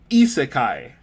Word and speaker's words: isekai: How do you pronounce that? Okay, it is isekai.